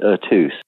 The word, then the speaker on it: Eux Tous: Well, it's pronounced Eux Tous.